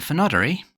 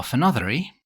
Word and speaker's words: Fenodyree: The finery or phenodie to give the two pronunciations listed by Ree is a Mans variant